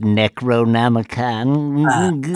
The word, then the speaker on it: Necronomicon: if you know that excuse me it's pronounced Necronomicon I'm sorry I'm pushing my glasses up onto